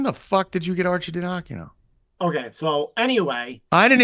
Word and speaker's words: Arcidiacono: The Ryan Arcandino, I think that's how you say it, is the other guy. Arcidiacono's on there? Arcidiacono, that's it.